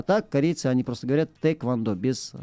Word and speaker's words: тхэквондо: корейцев разговаривать с ними они говорят без без буквы х просто тэквондо регламент доносами charvel это